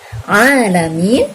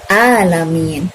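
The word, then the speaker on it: العالمين: Yang satu membaca dengan bacaan Alamin. Yang satu membaca dengan cara mengganti huruf Ain dengan Hamzah menjadi Alamin. Dan tentu saja ini adalah merupakan kesalahan yang fatal karena ini akan sanggup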